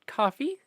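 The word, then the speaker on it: Ko-fi: a weird feeling um just realized it's uh pronounced coffee because it's buying a coffee yeah so I don't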